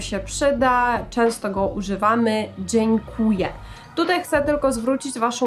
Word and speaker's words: dziękuję: przyda często go używamy Dziękuję tutaj chcę tylko zwrócić waszą uwagę na to Jak wymawiamy to słowo dziękuję dziękuję nie Dziękuję tylko dzień jak słowo dzień dobry tak samo dzień kłuje Dziękuję też możemy powiedzieć